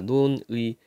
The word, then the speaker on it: 논의: 그러니까 논의. 단어의 첫머리가 아니야. 얘는 첫 음절이 아닙니다. 두 번째 음절이야. 그래서 원칙상 의로 발음해야 되지만 이로 발음하는 것도 허용한다.